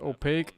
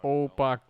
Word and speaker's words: opaque: When you were a kid, you pronounced opaque as opacre? Opacre for opaque?